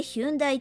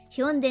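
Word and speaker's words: Hyundai: しておきますこれまでヒュンダイと表記されていましたが 2020 年にワールドワイドで韓国語の発音であるヒョンデに統一されることになりまし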